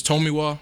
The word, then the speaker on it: Tomiwa: Either it's Tomiwa or you can say Tomi, and then my last name is.